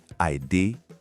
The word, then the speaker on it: I dey: Pronunciation, I day. Remember that day sound we practiced.